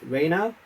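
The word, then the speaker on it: Rayner: also have brian talbert and uh richard pierce reiner orena sorry r-a-y-n-e-r and on the coloring we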